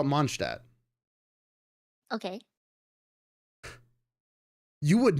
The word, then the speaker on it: Mondstadt: pronounce that? Mondstadt. I call it Mondstadt.